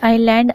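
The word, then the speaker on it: island: जब एस के बाद एल आता है तो एस साइलेंट होता है। Example आइलैंड, islet.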